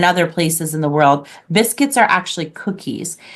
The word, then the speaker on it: biscuit: world, people call cookies biscuits, like in England, for example, and other places in the world. Biscuits are actually cookies. In French, it's pronounced biscuit.